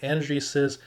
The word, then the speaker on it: EnergySys: So Blink Charging and Energy Sys, I think it's pronounced Energy Sys, There's a collaboration between